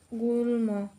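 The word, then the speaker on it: গুল্ম: এমন শব্দ হতে পারে গুলম এখানে ম ফলাটা ল এর সাথে যুক্ত থাকার কারণে ম এর উচ্চারণটা থেকে যাবে অর্থাৎ অবিরকৃত অবস্থায় থাকবে গুল ম তারপরে যে নিয়মটি আসে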